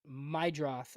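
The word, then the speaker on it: Meidroth: John asked about Mydroth.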